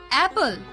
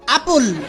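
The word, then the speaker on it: apple: অ্যাপল। নো নো নো নো, আসল উচ্চারণ করো দেখি। অ্যাপল। নো নো নো নো, এইভাবে হয় আপুল।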